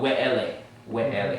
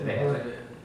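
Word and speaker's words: וְאֵלֶּה: So for they put we'ele instead of ve'ele. Because they're following the W. Like when people say Yahweh instead of the V, they're which is not a proper form of the name of God. It's just not correct.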